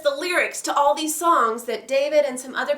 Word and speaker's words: Psalms: this is Psalms Psalms the P is actually silent when you pronounce it so it's songs and psalms is another